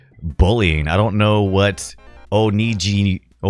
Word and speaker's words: onigiri: I don't know what Onigiri. Onigiri, is that how you say it? Am I getting close? Onigiri. How is that an insult somewhere? The hard G, maybe? Weird. Giri. Okay, Giri. Hard G.